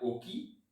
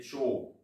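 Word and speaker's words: 沖: C'est un caractère qui peut aussi se prononcer cho. Oki, je vous le disais, c'est du japonais. Le sino-japonais, dans ce cas, ce serait cho.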